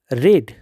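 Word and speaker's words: read: এটার যদি আমরা এই ফর্মুলা অনুসারে করি তাহলে তার প্যাসিভ হবে history is নট রেড বাই হিম। রিডের past participle হলো রেড, বানান একই কিন্তু উচ্চারণ আলাদা।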